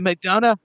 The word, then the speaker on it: McDonough: royal, but JD McDonough, how do you say his name? I always get it wrong. I had it in my head. Is it McDonough? McDonough, there you go.